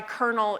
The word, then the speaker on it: colonel: I know random things like why colonel is spelled with an L and pronounced with an R.